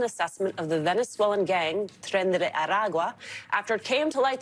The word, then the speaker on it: Tren de Aragua: The first, the way that woman decided to pronounce Tren de Aragua. She knew it was awkward. Why do that? Why are you doing that? Just Tren de Aragua. You don't need to Tren de Aragua.